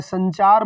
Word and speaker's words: संचार: समझ लेते हैं लेकिन अगर संकल्प बोला जाए संचार बोला जाए संदर्भ बोला जाए तो आप ना का उच्चारण समझते हैं जबकि वहां पर भी सम ही होता है इस तरह से